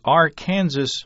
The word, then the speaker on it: Arkansas: and says greetings from the land of the AR Kansas River apparently the Arkansas River gets a different pronunciation over there in Kansas Hank says I've never